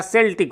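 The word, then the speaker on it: Celtic: उच्चारण थोड़ा ध्यान रखेंगे सी के बाद ई आए तो इंडियन कंटेक्सलोडरलिस्नर तो उस हिसाब से यहां सेल्टिक होना चाहिए लेकिन चकि ये ओल्ड इंग्लिश से लिया गया और ओल्ड इंग्लिश में जो इसका उच्चारण होता था वो केल्टिक होता था तो आप केल्टिक भी आपके हिंदी में भी यही यहां पर गा बाकी पढ़ने को आप जो है सेल्टिक पढ़िए केल्टिक पढ़िए एक ही बात है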